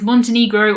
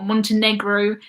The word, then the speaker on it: Montenegro: Montenegro probably would be how I would say it, but some people say egro. I think Americans say E, and then everyone else says eh.